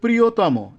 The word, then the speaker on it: প্রিয়তম: আছে দুই নম্বরে আছে তরতম প্রত্যয়ন্ত শব্দের অন্ত অ এর উচ্চারণ ও এর মত হবে যেমন বৃহত্তর তাহলে উচ্চারণটা কেমন হবে বৃহত্তর যত সুন্দর করে ভাঙ্গা যাবে তত উচ্চারণটা সুন্দর হবে বৃহত্তর এভাবে প্রিয়তম একইভাবে প্রিয়তম এখানে এই যে মধ্য